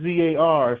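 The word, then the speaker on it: czar: zar I guess some people are pronouncing yeah term yeah Russia c z a r some people still use that word as a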